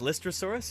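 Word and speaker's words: Lystrosaurus: anyway very cool and is that how it's pronounced listrosaurus yeah yeah and you're welcome you're very welcome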